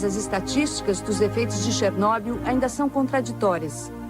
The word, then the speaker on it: Chernobyl: Bem-vindos a Chernobyl, ou Chernobyl, como os ucranianos falam.